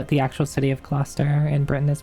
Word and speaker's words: Gloucester: I see that's how the actual city of Cluster in Britain is pronounced.